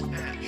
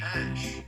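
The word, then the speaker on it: Æ: and elon is that elon pronounces the ae as ash and grimes pronounces it as a i there's already missed translations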